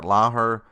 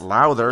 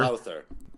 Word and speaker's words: Lowther: Brendan Labatt, Ed Gainey, kicker Brett Lauher. Wait, did I say it wrong? Lowther? Oh, you did. Damn. Yeah. Double There's damn. a T in there. Okay. Lauher. Brett Lowther. Lowther. Yep, I got it.